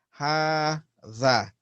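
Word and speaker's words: هذا: Hadha is pronounced ha-tha, even though you have a single vowel. Right? It's really like a standing aleph on top there. Hadha. That's how it is pronounced.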